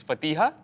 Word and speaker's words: Fatiha: I just want to get one thing right. It's Fatiha.